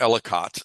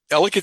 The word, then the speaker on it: Ellicott: You know people it's people say elicate rhymes with delicate.